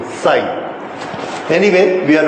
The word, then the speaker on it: psi: ठीक है, this is pronounced as psi. psi जरा डिफिकल्ट शब्द है, क्योंकि ये प्रोनाउंसिएशन हिंदी में होता नहीं है, इंग्लिश में भी नहीं होता है। एनीवे, तो ये स से बना हुआ है, स और च के बीच में psi.